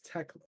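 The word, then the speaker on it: Thekla: Okay, it's Tekla. That's how you pronounce her name. Okay, The yeah. H is silent.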